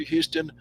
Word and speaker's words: Houston: uh any questions for houston burn it it rhymes with dernit that's how i remember